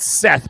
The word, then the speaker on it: Seth: It's spelled Seth, but it's Set.